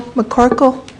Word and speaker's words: McCorkle: Our final speaker for the evening, I hope that I am pronouncing it right, Will McCorkle.